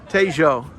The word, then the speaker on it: Tejo: So how do you pronounce it? New York. No, the river? We think Tejo. Tejo.